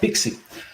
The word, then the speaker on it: PKCE: code exchange also called pixi so it's called pkce but it's pronounced pixi it's a more complicated